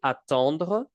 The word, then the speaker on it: attendre: Now, careful, it's not pronounced the same as attendre. Listen carefully, attendre, atteindre.